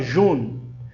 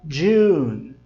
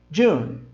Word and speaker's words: June: Cuidado que no som de June tem um som como se tivesse um D na frente da letra J. Você não fala June, você fala June, tá?